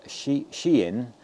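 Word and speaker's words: Shein: looking at the uh Chinese um site of she shien uh I'm told that's how you pronounce it uh and um s he i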